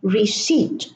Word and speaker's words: receipt: It is cupboard, no P, raspberry, no P, and receipt, from receive, no P.